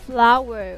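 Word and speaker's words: flour: forget that one okay that should be pronounced as flower okay okay don't forget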